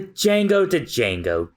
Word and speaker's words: Django: The Django. Don't say mother. It sounds it's so silent. The D is silent.